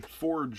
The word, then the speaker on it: Fjord: not let's try out the forged water that is apparently how you pronounce it I did look